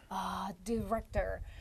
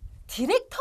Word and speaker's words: director: Director. 여러분, 디렉터 많이 들어보셨죠? 근데 발음 다시 한번 해주시겠어요? All 발음? Right. Director. 와, 확실히 달라요. 그렇죠? 디렉터 아닙니다. 디렉터 아니에요. Director. 뭔가 디렉터라고 하는 것 같았어요.